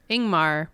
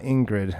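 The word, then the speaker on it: Ingmar: to pronounce it wrong ingar Bergman not ingred okay ing got it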